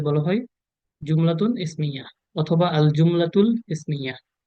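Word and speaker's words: الجملة: জুমলা মানে হচ্ছে বাক্য, মানে ঠিক আরবিক উচ্চারণ করতে গেলে আল জুমলাতু, আর একটু উর্দু টাইপের উচ্চারণ করতে গেলে জুমলা।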